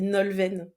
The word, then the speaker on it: Nolwenn: Mon prénom, ça se dit Nolwenn. Ah, Et- bah voilà, déjà un loupé. Mais Mince alors. non, c'est pas un loupé, c'est une occasion pour moi de le réaffirmer parce qu'effectivement, ça s'écrit avec un W et tout le monde m'appelle Nolwenn sans me connaître, mais c'est important pour moi voilà, que ce soit la bonne prononciation.